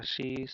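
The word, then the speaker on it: つ: তারপর এগুলো হলো সা সি সু সে সো। দেন তা চি সু, এটার উচ্চারণ হবে সু, এরকম যে হালকা মানে তায়ের মতো মানে টি এর একটা আওয়াজ থাকবে।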